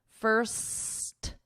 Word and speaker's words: first: Okay, here we have a difference because With one, you need ST. First, first, st. The difference between the other one is my tongue is not going between my teeth.